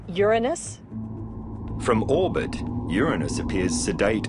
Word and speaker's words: Uranus: I pronounce the planet's name Uranus.